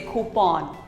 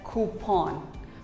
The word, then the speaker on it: coupon: us call it coupon or some may even say coupon but actually it is pronounced as coupon who pawn coupon here's a very